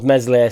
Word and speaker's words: Meslier: The first shot in the training session was Meslier Silent S.